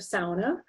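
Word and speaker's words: sauna: a local dialect feature the pronunciation of sona or what you might say is sana and depending on where you are or who you are is another example of language contact between english and finnish but also swedish norwegian German and other European languages where speakers would pronounce sound anna sona and na sana what's interesting here is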